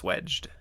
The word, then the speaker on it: swag: So there's a term in electrical apparently where a light fixture can be swagged, and that's where It's pronounced swedged.